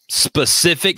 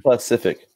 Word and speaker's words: Pacific: Specific Standard Time. Pacific. Yeah. Specific. You're Yep.